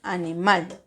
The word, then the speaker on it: animal: Si se dan cuenta, esta palabra no tiene tilde, pero al momento de usted pronunciarla tiene la mayor fuerza de voz en mal, porque usted no dice animal o animal, dice animal.